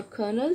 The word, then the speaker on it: colonel: Pronunciation for colonel, C-O-L. L is silent.